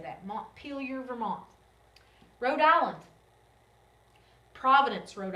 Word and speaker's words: Montpelier: that's the capital okay Vermont kind of an odd word Montpelier is how you say that Montpelier Vermont Rhode Island Providence